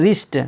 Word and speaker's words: wrist: अब देखिए यहाँ डब्लू जो किसके बाद आया है, आर के बाद आया तो यहाँ पर डब्लू साइलेंट हो गया, राइट पढ़ा जाता है। इस तरह रिस्ट, जिसका माना होता है कलाई, WRIST, रिस्ट, यहाँ